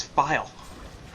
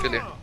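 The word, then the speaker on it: FiIe: It's File. No. Yeah, it is. Philly. No, it's File. I don't care. It's File. I like to say Philly. I've talked to the man himself. He says it's File.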